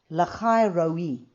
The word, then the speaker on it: Lahai-roi: Lahai-roi is how you say it.